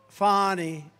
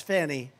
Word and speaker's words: Fani: It's pronounced Fani, F-A-N-I. That's Fanny. But she likes it Fani.